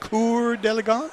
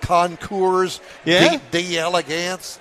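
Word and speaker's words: Concours d'Elegance: you really pronounce conour deagon the way it's pronounced conour delance uhhuh conour although it looks like conour d Elegance no it's not uh that's maybe the hillbilly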